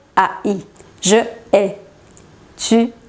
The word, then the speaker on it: hais: Es porque la H de aquí no es muda, es aspirada.